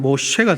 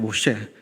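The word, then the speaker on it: משה: 이것이 히브리식 그 발음대로 하면 모셰가 됩니다. 모셰, 건지다, 끌어내다 라는 것을 의미합니다.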